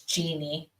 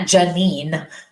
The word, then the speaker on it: Jeannie: Well, my mom spells her name that way, and it's Jeannie. But a lot of people who spell it that way, it's Jean. But it's definitely not Janine. There's no I in between the ends, Michael.